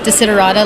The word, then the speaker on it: Desiderata: Well, my name is actually pronounced Desiderata, like you said correctly.